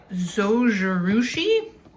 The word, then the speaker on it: Zojirushi: It is the little elephant, the Zojerouchi, I believe that's how you say it.